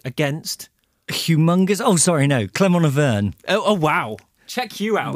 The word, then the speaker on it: Clermont Auvergne: How do you pronounce it correctly, Chubby? Against? Humongous? Oh, sorry, no. Clermont Auvergne.